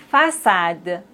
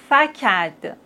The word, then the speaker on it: façade: Mais s'il n'y a pas de cédille, on doit les prononcer comme ça. Franquet. Garcon. Facade. Décu, Mais on a la cédille, donc on doit dire français, garçon, façade, déçu.